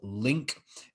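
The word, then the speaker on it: LingQ: One app which I have particularly found to be useful is an app called Link. It's spelt Ling, and then it has the letter Q afterwards.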